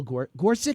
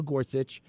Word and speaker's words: Gorsuch: you to talk about Supreme Court nominee Neil gor gorsi am I pronouncing that right Gorsuch I think G Gorsuch there we go Neil Gorsuch uh who's a young guy by the way